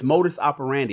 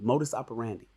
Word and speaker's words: modus operandi: you guys ignore rcc it's not mode of operation it's modis operandi i want you guys to say it properly modus operandi rcc is out here